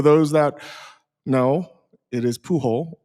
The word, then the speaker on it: Pujol: So I'm not worried about pronunciation. I feel good. So for for those that know it is puh hole.